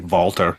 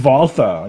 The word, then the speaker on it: Walter: I pronounced it the German way, Walter.